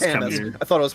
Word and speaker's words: Camus: Yeah, and nothing will sell DLC more than the guy that I thought name was pronounced Camus. It is pronounced Camus.